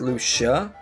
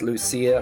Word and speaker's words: Lucia: I'm more used to this name being pronounced as Luca, but the game says Lucia, so why not?